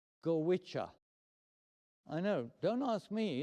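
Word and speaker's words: Goitse: goggle, but in fact, thank goodness, is not pronounced the way it looks. It's actually pronounced gicha.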